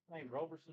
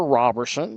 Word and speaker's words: Robertson: Roberson or Robertson? Okay. And we did get a quick little correction there. Robertson.